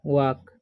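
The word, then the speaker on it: walk: हैय लिखा हुआ है डब् ए एल के ठीक है तो डब्लू से उच्चारण हो जाएगा व और ए एल हो ए का हो जाएगा वा ठीक है एल जो है यहां पर साइलेंट रहता है तो इसे पढ़ते हैं हम वाक ठीक है उसी तरीके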